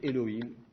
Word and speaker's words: Elohim: à ce moment-là là vous allez le prononcer Elohim Seigneur Elohim je dis Elohim est